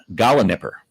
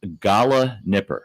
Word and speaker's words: gallinipper: Gala Nipper. Gala Nipper. And Okay, you but want to it's- spell it? I will spell it because Okay. it's not pronounced like it's spelled.